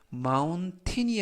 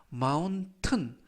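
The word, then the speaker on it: mountain: the moun 산을 이때 마운틴이 아니라 마운튼 이라고 발하 하고요 즉 전체적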